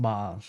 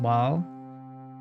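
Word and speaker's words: Bhaal: whereas this is pronounced ball so the Lord of murder in um Baldur's Gate is pronounced ball but the Lord of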